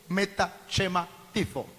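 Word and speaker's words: μετασχηματίζω: escrito el Nuevo Testamento, es la palabra metachematizo. Así se pronuncia, metachematizo, con Z.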